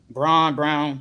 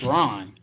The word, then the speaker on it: Braun: Brown, whatever. It's brown, bro. It's like the color. It's Braun. It's brown. But it's Braun, though.